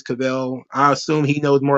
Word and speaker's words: Caviezel: Is Cavell? Are we sure about that? Because it's Caviezel. I'm not supposed to pronounce every letter and vowel in this thing. So I'm just going to do Cavell because that's what the TOD tells me. He tells me it's Cavell.